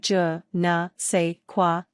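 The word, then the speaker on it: je ne sais quoi: Pronounce it juh-nuh-say-kwa, and imitate a French accent if possible.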